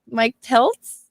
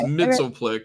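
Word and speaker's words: Mxyzptlk: would be funny uh mister Mike Peltz is that how you say it no it's Mitchell flick but they'll just pronounce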